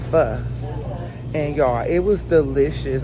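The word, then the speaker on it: Phở: I've been pronouncing it as Pho or something like that, but we were corrected and it's called Pho.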